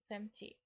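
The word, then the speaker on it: femtio: All numbers from 30 to 90 usually drop the O when pronounced. For example, treti, femti.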